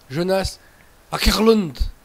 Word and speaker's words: Jonas Åkerlund: Jonas Åkerlund. Voilà. Je pense que ça se prononce comme ça. Donc le mec a fait